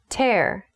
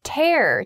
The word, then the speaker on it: tear: her shoulder this morning tear the next word is tear tear be careful this word is spelled t-e-a-r it looks like tear but used as a verb it is tear tear to talk about